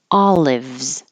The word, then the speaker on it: olives: won't hear the D olives it's a VZ combination at the end olives drought hold that